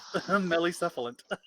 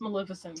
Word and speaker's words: Maleficent: already got her yep smelly seafood mellicephalum love her i know it's pronounced maleficent guys i like your